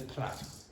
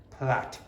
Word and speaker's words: plait: So the pronunciation is braid, and the British one, the pronunciation is plait. Do not pronounce the I. Okay, it's a plait.